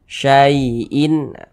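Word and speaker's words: شَيْءٍ: Kita baca syai'in. Berhati-hati mengucapkan huruf lin yang terjadi pada huruf ya sukun. Hati-hati, jangan sampai condong ke huruf e.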